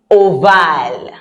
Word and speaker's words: ovale: How do you say it in English? Oval? Yeah, but in French, you have to make sure that the A is coming out. Ovale.